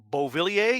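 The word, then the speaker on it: Beauvillier: was that really how you say his name bo Vili a yes really yeah I looked at his name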